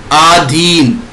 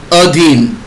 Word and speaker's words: अधीन: जैसे अशुद्ध में क्या है, अत्यधिक, लेकिन सही उच्चारण क्या है, अत्यधिक। साप्ताहिक, साप्ताहिक। आहार, आहार। आधीन, अधीन।